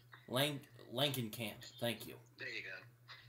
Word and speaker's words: Langenkamp: I'm gonna get her name wrong. Langenkamp.